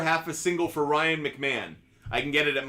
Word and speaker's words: McMahon: Now that I know how to pronounce his name correctly. Ryan McMahon.